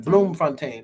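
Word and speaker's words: Bloemfontein: describe it to people bloom pronounced bloom fontaine okay steve harvey said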